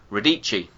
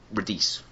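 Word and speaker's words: Radice: the actors wrong uh Giovanni Lombardo radicchi and I said reduce so I read it phonetically because I'm a [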